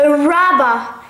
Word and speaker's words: rubber: لا ننطق الـ R في الأخير, نقول a rubber.